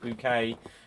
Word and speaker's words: Bucket: I think there should be something in the fact that her name's Bucket. She pronounced it bouquet, and then Pilates should be like Pilates or something.